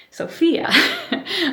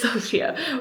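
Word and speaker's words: Sofia: it's just like locked in there I always pronounce it Sophia I know it's Sophia but uh yeah kind of interesting that you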